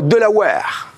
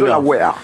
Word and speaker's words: Delaware: Delaware. Ça marche. C'est comme les Tupperware. Vous inquiétez pas. Delaware. C'est comme Tupperware, mais avec le dollar. Exactement. Delaware. Eh bien, le Delaware est un État des États-Unis.